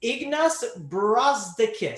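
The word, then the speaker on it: Ignas Brazdeikis: power forward for 3k i looked at the pronunciation it's ignus brazdakis so uh title i'll go to you can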